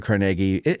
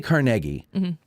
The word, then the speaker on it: Carnegie: Yes, it's a conversation with Matt Callery of Addressing Gettysburg over at the Andrew Carnegie. Now, Ronnie, you say Carnegie, but the rest of the world says Carnegie.